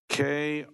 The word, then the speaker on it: Kriah: have to spell it, Kriahb, and then, and self, against HCR 71. Is that correct? Yes, Go right ahead. I'll pronounce it for you. It's Kriah.